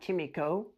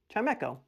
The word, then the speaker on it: Chimecho: Chimecho. Not Chimico. Chimecho.